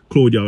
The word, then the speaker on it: Claudio: have orange Cassidy versus claudo Castillo um that's how I pronounce his name Claudio I call him claudo anyway for the International